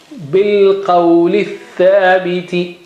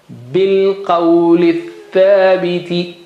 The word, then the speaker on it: بِالْقَوْلِ الثَّابِتِ: From bilqawli, lith and alif and lam are not pronounced, not read. So bilqawli thabiti, bilqawli thabiti.